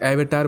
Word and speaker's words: Avatar: अब आप इसको अवतार बोलो या फिर एवेटार बोलो, बात एक ही है, different pronunciation, potato same thing.